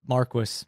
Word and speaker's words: Marquis: was weird the nobleman you also said Marquis which is the English pronun pronunciation I researched this hard because I knew someone was GNA call me on some sort of French but the word is a French of in origination so